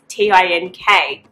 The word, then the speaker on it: tink: So instead of K-N-I-T, it's T-I-N-K. Knit, tink.